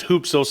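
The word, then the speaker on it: ὕψος: It's pronounced hupsos in the Greek, but the way that it's transliterated and spelled, it has the HYP.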